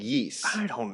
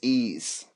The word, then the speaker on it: Ys: Nintendo's West I believe is it YS yeast you know it's pronounced like yeast knows eise I think it's ease I don't know um you